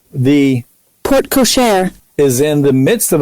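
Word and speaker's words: porte-cochère: the po port cashore how do you say this p-o-r-t-e c-o-c-h-e-r-e port ashore cashier like pig let's see hold up i can look this up real quick port cochair port cochair was that you kevin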